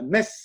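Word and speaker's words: Mées: Vous êtes implanté dans les Landes à Metz avec un S qui se prononce à la fin.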